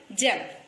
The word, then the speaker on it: gem: Gem. Yes. See. N-E-T. Confusion ना होना. G है, j है. You all read as G only. Here we have to read this G-E-M as gem. This is soft G.